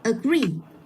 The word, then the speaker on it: agree: Có hai âm tiết đó là và agree, thì mình sẽ nhấn vào cái âm tiết mà nó có hai chữ e. Mình sẽ đọc là agree.